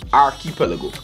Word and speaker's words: archipelago: But the proper pronunciation is archipelago.